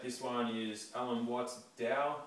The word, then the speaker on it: Tao: one is Alan W's Dow it's spelled Tao but it's pronounced Dow as in DSM the